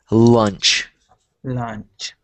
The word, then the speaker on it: lunch: you go and then the other one is lunch lunch think of it like the word lunge like l o u n g e like when you uh when you're doing um lunges lunge lunch so think of it